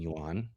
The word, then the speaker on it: yuan: China buys it in yuan. Okay. Japan buys it. How do you say the currency? Yuan. Like, okay. Yeah, it sounds like yen, I guess.